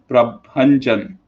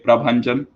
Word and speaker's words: Prabhanjan: up very badly also you are pronouncing my name it's prabhanjan okay prabhanjan surah scandal dc win